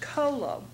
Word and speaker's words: colo: bile then we have a word part c l o which is also pronounced Colo so we have a